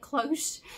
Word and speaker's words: cloche: That's how you say it, cloche.